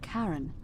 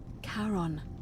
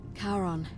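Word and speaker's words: Charon: It's just as you described it, only your pronunciation is a little off. The name you heard wasn't Karen. It was C H A R O N. As in Karon, the fairyman of the dead. Karon, who in exchange for the right coin, helps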